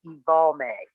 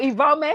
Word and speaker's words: Evalme: The pronunciation of my name is Evalme. Oh, Evalme.